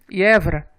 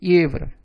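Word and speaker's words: евро: Na palavra ievra, que é aquela moeda da Europa, o euro, a letra IE, ela inicia a palavra e é a sílaba tônica. Então, ela é pronunciada como se fossem duas letras, I e E, pronúncia ievra.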